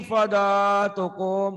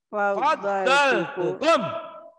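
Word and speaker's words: فَضَّلْتُكُمْ: Jadi bacanya jangan wa anni fadatukum alal, nggak boleh gitu. Wa anni fadaltukum alal alamin. Kenapa Pak Ari kayak yang stres? Ya bacanya kayak gitu latihannya. Saya cuba Pak Ustaz. Boleh coba. Wa anni faddaltukum. Wa anninya panjang dulu. Wa anni kan matobi'i. Wa anni faddaltukum alal alamin. Nah, itu sangat tepat buat belajar kalau Ramlan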